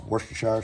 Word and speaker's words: Worcestershire: 1/4 cup W sauce, Worcestershire sauce.